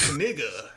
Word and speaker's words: Knigga: And it was like Knigga, and I was like, come on, no other English language like KN, like knife, knight.